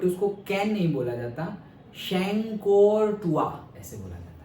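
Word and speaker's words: Chancourtois: जिसको बोला जाता है, कैन नहीं बोला जाता, कभी कभी हम कैन भी बोलते हैं, बट उसको कैन नहीं बोला जाता, शैंकोरटुआ ऐसे बोला जाता है।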